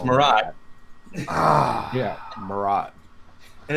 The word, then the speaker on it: Marat: quarter century and you don't know how to pronounce his name I know it's Mariah yeah Marat and it's Walter Simonson fine it's fine whatever